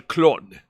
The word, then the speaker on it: Clon: El Clone. Oh or just Clone. Yeah, no, Clone. Clone. That's how it's spelled in Spanish.